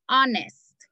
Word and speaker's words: honest: La h es muda. La h no suena. Y por eso ponemos an. It's like an honest.